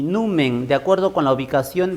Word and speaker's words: numen: Numen. Porque si no estaría con tilde, ¿no? Estaría con tilde, sería aguda, terminada en N, debería tildarse. Pero acá no está tildada, entonces se pronuncia numen.